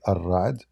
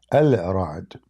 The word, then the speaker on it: Ar-Ra'd: Like, I mean, when they say Ar-Ra'd, they are just saying it how they pronounce it, but it's not correct. Al-Ra'd.